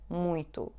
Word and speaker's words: muito: So you should pronounce it like a nasal U. Muito, muito.